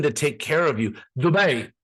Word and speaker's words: Dubai: you say it, but trust me, it's Dubai. That's how you say it. It's an Arabic word.